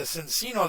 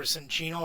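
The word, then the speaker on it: Cinccino: But the Cincino that this evolves into, or Cinchino if you want to pronounce it that way, has an ability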